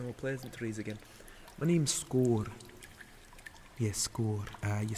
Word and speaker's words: Skor: My name's Skor. Yes, Skor. You spell that, hold on, let me remember common.